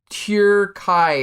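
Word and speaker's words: Türkiye: No, it's called Turkey, but it's like Turkai. It's like pronounced slightly different.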